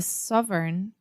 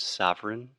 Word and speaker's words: sovereign: First, the word sovereign. Sovereign. A lot of Portuguese speakers have difficulties with any word that has this EIGN combination, like foreign, sovereign.